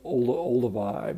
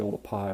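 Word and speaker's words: Oldupai: a lot of people call it sort of Olduvai but it's actually old a PI which was a mispronunciation of the way it's written you know in the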